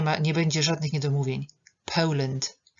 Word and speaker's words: Poland: Nie będzie żadnych niedomówień Poland eu Poland akcent na pierwszą są sylaby i dwudźwięk ł am from Poland